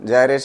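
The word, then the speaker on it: gyration: रेशन radius of जनरेशन जैसे भी pronounce करना है ठीक है रेडियस ऑफ जायरे कुछ लोग गायरे भी बोलते हैं ठीक तो कोई दिक्कत नहीं है सब सही है i इक्वल टू क्या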